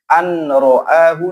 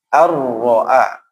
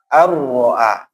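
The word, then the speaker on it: أن رآه: Maka cara membacanya walaupun ada nun tidak boleh an ro'ahu, tidak boleh, tapi harus ar-ro'a, ar-ro'a.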